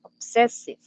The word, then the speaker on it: obsessive: Okay, for example, obsessive. You were pronouncing that word with the accent in another syllable. Okay, es como más que todo como en la parte del acento, donde coloca el acento.